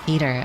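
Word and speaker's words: fetor: Apparently, it's pronounced feeder and means a distinctly unpleasant odor.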